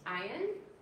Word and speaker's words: Ayin: Okay, let's do ayin. This one is Zaire. I've always given me a little trouble. S. Samech. All right, let's do ayin. Ayin is another silent letter.